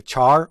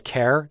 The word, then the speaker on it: char: want to discuss is a char or a care depending on how you pronounce it we've talked mainly about